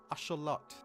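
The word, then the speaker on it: axolotl: This is the axelottle or if you want to pronounce it like the natives do achelot.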